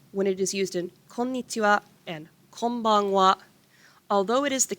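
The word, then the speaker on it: こんにちは: last lesson about hiragana why are you pronouncing it as wah so it's special when it is used in konnichiwa and although it is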